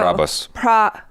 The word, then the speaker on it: Prabhas: that the fandom has, and like rebel star Prabhas, or I'm saying it wrong. Wait, no. Prabhas.